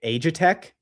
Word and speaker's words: Aegitech: Aegitech.